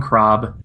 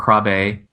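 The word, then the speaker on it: Krabbé: And that would be Georgy Koskov, played by Jeroen Krab, or Krabe, whichever way. I've seen it with and without the accent aigu at the end, which changes the pronunciation. By the way, if you have that little accent and it starts at the bottom and goes up the top, it's called an accent aigu, and that's A when you pronounce it.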